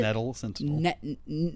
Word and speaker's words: Nettle Sentinel: Nettle Sentinel.